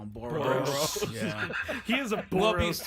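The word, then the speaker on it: Boras: I call him boros boros yeah he is a boros to me I call him boros cuz it rhymes with moros um good yeah but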